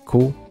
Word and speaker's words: く: 八是哈基，九有两个读音，一个是 Q，一个是哭。